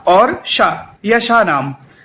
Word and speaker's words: श: अपनी जिह्वा को तालु पे स्पर्श करिए और बोलिए शा।